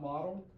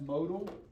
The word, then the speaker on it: modal: That's mo not model. That's modal.